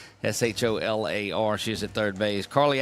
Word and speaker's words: Scholler: Mary Scholler is at, there you go, Scholler. See, I got it. And look, it was the most polite correction of the way to pronounce a name ever. So thank you, Mary, for that, for being very, very, very polite in that. It's Scholler. Scholar.